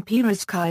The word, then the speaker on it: pirozhki: The stress in pirkai is properly placed on the last syllable.